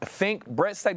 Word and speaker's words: Fink Bressac: Is it Fink Bressac? Did I say that right? I want to make sure I say that right. That's right. No, Okay, you got it right.